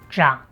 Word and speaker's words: 長: As you can see, Jang is a verb meaning to grow or to grow up.